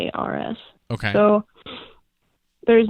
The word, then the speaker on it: Bomgaars: But tell me about Baumgars and what you were selling there. Am I saying it correctly? Yeah. It's Bomgaars.